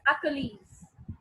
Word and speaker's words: Achilles: Okay, the last sentence, first of all we pronounce it as Achilles.